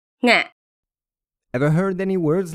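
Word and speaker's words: ငှက်: Nga. Nga. Ever heard any words like this? It has an aspirated nasal sound at the beginning.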